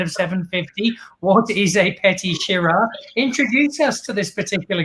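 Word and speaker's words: Petite Sirah: from the Mentors, except I thought it was Petit. It's actually Petit Syrah. You shouted at me for pronouncing it incorrectly earlier.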